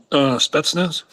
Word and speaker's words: Spetsnaz: Rod, how did you pronounce that word? Spetsnaz.